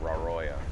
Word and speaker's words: Raroia: Raoya.